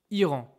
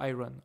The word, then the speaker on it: Iran: Par exemple, example, Iran. Iran is Iran. I think in English is Iran, okay?